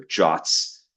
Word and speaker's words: JWTs: Um, for both federated authentication and for tokenbased authentication, this is all powered by JSON web tokens or JWTs or JOTS as apparently you're you're supposed to pronounce that which is kind of funny to me.